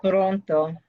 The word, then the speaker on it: pronto: Hasta pronto. Pronto. Excellent. I heard the trilled R there.